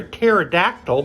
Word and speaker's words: pterodactyl: Why can't you hear a pterodactyl go to the bathroom? Because the P is silent.